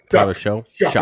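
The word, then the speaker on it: Shough: Sh and Sh uh is it show show show is how you say it yeah okay so for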